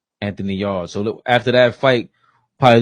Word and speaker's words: Anthony Yard: Mexican monster will fight November 22nd against how you pronounce the guy's name. Better be Anthony Yard. Y A R D. Anthony Yard.